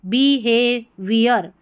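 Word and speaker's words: behaviour: BEBHA, हे, HA को हे पढ़ेंगे, ह नहीं पढ़ना, बी ह ऐसे पढ़ेंगे तो गलत उच्चारण होगा। बी हे, VI, और OR, वियर, तो बी हे वियर।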